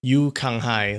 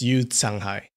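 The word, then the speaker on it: Yu Canghai: him, that that guy, Yu Kanghai, that's not how you say his name. It's Yu Changhai. When you see a C followed by a vowel, that's kind of a s sound.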